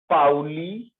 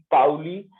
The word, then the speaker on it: Pauli: This rule is known as ये topic क्या लिखा है सर, एक बार प्रोनाउंस कर। पाउली PAULI, पाउली एक्सक्लूजन का मतलब समझते हो?